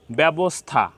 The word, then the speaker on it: ব্যবস্থা: এর মত উচ্চারণ হয়েছে ঠিক দ্বিতীয় শব্দে ব্যবস্থা এখানে ব এর সাথে জ ফলা সংযুক্ত হয়েছে কিন্তু তারপরে কোন রসইকার নাই তারপরে একারন্ত উচ্চারণ হয়েছে ব্যাব ব্যাব তো এখানে এখানে এ এর মত উচ্চারণ হয়েছে ব্যবস্থা এখানে খ্যাত এখানেও টদ্রুপ